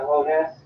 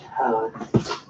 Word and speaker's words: Hodes: Celia Hodes? It's pronounced Hose.